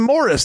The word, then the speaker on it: Maurice: okay they called him Morris the whole show they called him Morris now it's spelled Maurice m a u r